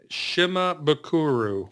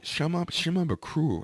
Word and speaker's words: Shimabukuro: Ukulele, Jake Shimabukuro. Shimabukuro.